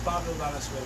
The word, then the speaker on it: Pablo Valenzuela: Why don't you pronounce it for us? No, it's Pablo Valenzuela.